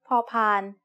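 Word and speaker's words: พ พาน: used for making offerings the sound of paupan as the initial consonant of a syllable is like the p in panda you should feel air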